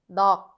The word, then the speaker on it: 넋: 넋, 넋. Even though this double bottom consonant consists of both 기역 and 시옷, we only follow the pronunciation of the 기역, which is the first part.